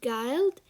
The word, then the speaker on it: guild: we have has got guild and you pronounce it as i uh g-i-l okay so disguise and